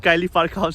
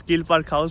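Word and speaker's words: Keele Park House: It's not Kylie Park House, it's Keel Park House.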